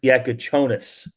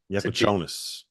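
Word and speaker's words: Jakučionis: I got some pronunciations that updated now, and it's Kasparis Yakuchonis. Yakuchonis, yes.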